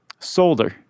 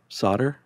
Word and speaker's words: solder: it's pretty awesome yeah did you say soldier solder solder yeah never heard it pronounced that way how do you say solder a solder you gotta say that L I think the L silent unless it's regional maybe Regional Regional to